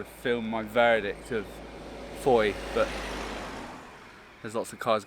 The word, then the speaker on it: Fowey: you're wondering as well it's pronounced foy not foey which is what my